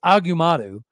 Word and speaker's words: Agumadu: I keep saying his name wrong. It's Agumadu.